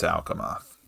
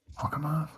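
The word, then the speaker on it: Alcamoth: uh Al alamoth is that right did I spell that right yeah it's it's alamoth alamoth can I have arth written down here too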